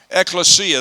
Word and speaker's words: ekklesia: church is an ecclesia I know you pronounce it ecclesia right X lesya that's American pronunciation of it ekklesia out of Callao called